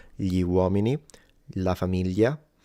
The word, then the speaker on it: famiglia: But in the south, this is simplified into a Y. So like in Sicily and in Naples, it will just become y. And so famiglia, figlio, figlia. And in the north, there are some people sometimes that simplify it into an L. And they will say familia, filio, filia.